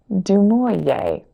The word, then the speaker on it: du Maurier: I also found Rebecca by Daphne du Maurier, maybe is how you pronounce that.